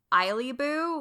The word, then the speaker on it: Eillyboo: so um on most platforms I go by iib boo which is spelled e i l l y b o